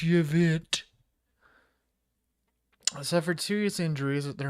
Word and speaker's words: Yvette: Hortman and her husband Mark were killed in their home in Champlin, while Huffman and his wife Yvette, yes, that is spelled pronounced Yvette, suffered serious injuries at their home in Brooklyn Park.